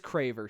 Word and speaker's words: Craver: Yeah, it is Craver. C R A, not C A R. Yeah, we've just been saying it wrong.